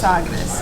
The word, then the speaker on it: Sagres: I think it's Sagres. Is that how you say it? You've got to drink some beer with this. Yes. Sagres, yeah.